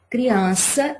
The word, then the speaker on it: criança: A última é sa. A penúltima é an. Então, a que a gente pronuncia com mais força é o an. Criança. Não tem acento, mas é a sílaba tônica.